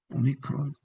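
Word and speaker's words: όμικρον: C 그다음에 5 오 오미크론 오미크론 오미크론이 5라고 읽지 않고 오미크론이라고는 걸음 염두해 두셔야 됩니다.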